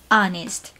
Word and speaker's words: honest: In English, for some words, we choose not to pronounce the initial H, like air or honest.